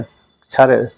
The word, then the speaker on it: क्षर: क्षर क्षर किच्छर किच्छर क्या वो अच्छा बोलना, क्षर, नहीं तो सीधा क्षर बोलेंगे तो क्या हो जाएगा, वो चा छा जा को छा आ जाएगा क्षर। तो क्या का भी थोड़ा पीछे उच्चारण करना है, तो क्षर, इसलिए वो